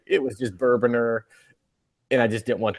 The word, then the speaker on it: Bourbonr: You're Bourboner. The E is silent.